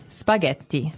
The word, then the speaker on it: spaghetti: might hear it differently and what about spaghetti spaghetti spaghetti oh you pronounce the double tea as well that's right